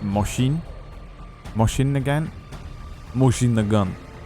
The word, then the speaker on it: Mosin: Isn't it pronounced Moshin?